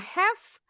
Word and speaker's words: half: Bacanya one and a have. Tulisannya H A L F. L-nya enggak boleh bunyi. Ini bacanya have artinya setengah.